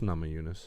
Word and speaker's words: Namajunas: It's just Namajunas.